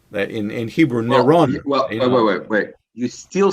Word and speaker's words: Nero: But the pronunciation is the Latin pronunciation by dropping dropping the final noon off of his name. Okay, so he's still Nero Caesar.